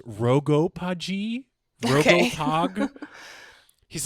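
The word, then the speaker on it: RoGoPaG: have you seen and I think it's pronounced rogo paji Roo POG he's like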